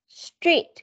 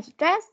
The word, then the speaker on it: street: Có âm đều này, Oxford Primary School, Oxford Street, không phải stress, street.